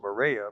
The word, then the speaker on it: Moorea: This was another one of our stops when we got to Moorea. It's interesting. We pronounce it Moorea, but the people there pronounce it Moorea.